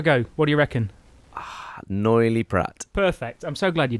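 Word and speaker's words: Noilly Prat: internet but you know uh yeah how you pronounce that ah yes good have a go what do you reckon noily Pratt perfect I'm so glad you did that I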